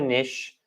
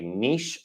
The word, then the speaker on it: niche: We can say niche or niche. I think I combined the two different pronunciations when I was speaking there, but this is carve out a niche or carve out a niche.